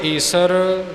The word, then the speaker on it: ईश्वर: प्रचलन हो गया जी गुर ईसर गुर गोरख बर्मा गुर पार्वती माई सो ये नियम मुताबिक ठीक नहीं गुर ईश्वर गुर गोरख ब्रह्मा गुर पार्वती माई य उच्चारण शुद्ध है तीरथ गुरा एक देह